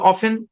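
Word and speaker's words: often: তারা এটাকে অফটেন বলে তাহলে আমরা কি করতে পারি ভাই দুটাই সঠিক দুইটাই উচ্চারণ করতে পারেন তবে অফেন বলেন বেশি স্মার্ট লাগবে অফেন মানে এটা দুইটা উচ্চারণ অফেন অফটেন দুটাই হয় অফেন বলতে পারেন স্মার্ট ইংলিশে ম্যাক্সিমাম মানুষ অফেনই বলে বুঝতে পেরেছেন আশা করি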